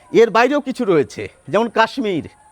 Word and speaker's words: কাশ্মীর: আবার এর বাইরেও কিছু রয়েছে, যেমন কাশ্মীর। কাশ্মীর শব্দের তালব্য স-এর সঙ্গে একটি মফলা যুক্ত থাকে, আমরা কিন্তু তালব্য স এবং ম দুটি বর্ণেরই উচ্চারণ করে থাকি।